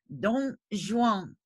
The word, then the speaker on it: Dom Juan: Today I'd like to talk about Molière's 1665 play, Don Juan. You'll notice that he spelled Don unusually with the M, but it's pronounced the same.